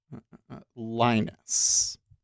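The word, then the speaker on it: Lynas: Linus.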